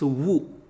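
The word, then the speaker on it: वु: And Wu is pronounced like WOO in wood.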